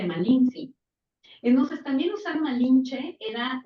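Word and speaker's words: Malintzin: Sí, y aparte Malinche es una mala pronunciación de los españoles de Malinci.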